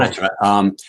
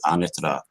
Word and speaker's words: Anatra: A lot of people will pronounce it Anatra. Um, I've been corrected by people from Italy. Make sure you pronounce it Anitra. It has a certain Anatra. way and flow to it.